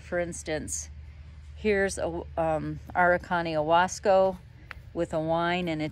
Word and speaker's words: Huasco: This first one I'm showing you is Huasco Aran, H-U-A-S-C-O, pronounced Huasco, like Wakaya alpaca is H-U-A.